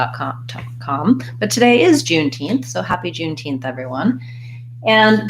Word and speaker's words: Juneteenth: out that 9 and we have again stresses on teen Juneteenth probably the most challenging with about thinking about this word is how to pronounce the th at the end so you could try June teen or just try teen and then teen teen but I have that n and th together what happens is I